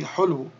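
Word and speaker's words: حلو: So this is ha dhamma with the lam sukoon, hul. And then we have the waw with the dhammatan, which would be hulwun. And then if we drop the dhammatan, then it would be hulu, hulu.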